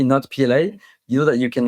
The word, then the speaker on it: Notpla: I have get gotten, have you heard of Natpla, not PLA? I have heard so many pronunciations of NAPLA.